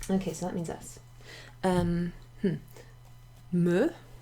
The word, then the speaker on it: me: Me is pronounced with an e sound, like le or je.